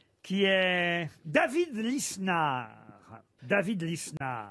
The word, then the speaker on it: Lisnard: David Lisnard. Qu'on peut prononcer aussi Linard.